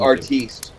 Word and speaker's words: artiste: the sandwich artist now. Yes. Wow. Big fan. Dude, artiste. Artiste, yes. Sorry, pronounced it wrong.